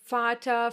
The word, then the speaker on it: Vater: Yes, the Germans will most of the time pronounce this letter like you would pronounce the English F. Like here in this number, 4. Some other examples are Vater, verkaufen, viel, vielleicht.